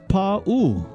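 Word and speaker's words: pāʻū: So many of us say poo rider but actually it's pronounced pau. You stretch the paw and you stretch the oo in poo rider.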